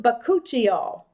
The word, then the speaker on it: Bakuchiol: It's pronounced Bakuchiol, if you've ever heard of it.